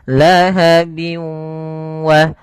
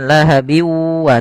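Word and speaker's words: لهب و: disertai dengan ghunah yaitu cara membacanya yaitu masukkan suara tanwinnya bin ketemu wa dimasukkan ke huruf wau dan ditahan karena disertai dengan gunah lahabi wa bukan lahabiwa tapi lahabi wa karena dia masuk gunah masuk ke ke rongga hidung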